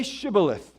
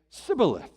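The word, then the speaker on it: shibboleth: they said to him then say shth and he would say Sith for he could not pronounce it right they couldn't they couldn't say the sh sound all they could say was cilith they they couldn't pronounce the the the sh okay I'll explain that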